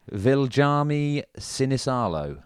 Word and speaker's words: Viljami Sinisalo: Viljami Sinisalo.